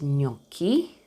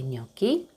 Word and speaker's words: gnocchi: First with GN, it's pronounced like almost like a soft N, sort of, from what I understood. Of course, I'm not a specialist, you know that. Okay, and the word is gnocchi.